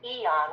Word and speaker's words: Aeon: And that will give somebody either 2 months of X39 and 2 months of Eon, which is spelled AEON, or 3 months of the X39.